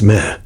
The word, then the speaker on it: me: This concept was known as the me, pronounced meh.